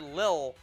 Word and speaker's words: Lil: Also, you don't pronounce the word Lil as it sounds. It's a shortening of little, but you still pronounce it as little. Little Butler. Yeah, you don't, just because it's spelled with less letters, it's still pronounced that way.